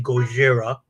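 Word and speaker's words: Gojira: right right know Godzilla's real name is actually goira right and then but in English it's pronounced Godzilla so you have all those little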